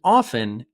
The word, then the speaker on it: often: like a native speaker the word often is better pronounced without the T but often with the t is still acceptable number four from time